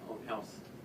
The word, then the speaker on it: Ohnhaus: My name's Ron House. Can you spell that for us?